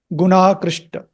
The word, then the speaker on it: गुणाकृष्ट: See the middle A, that double is coming, that horizontal bar is coming because the A of guna and the A of akrishta both are combining to give you a longer A.